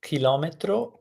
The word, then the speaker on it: chilometro: So as I said, careful because in Italian, chilometro will be spelled with ch. The sound k in Italian is achieved with c.